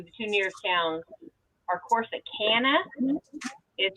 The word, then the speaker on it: Corsicana: There's actually the two nearest towns are Corsicana is how he pronounces it, that's how it's and said. it's supposed to be, but I pronounce it Corsicana.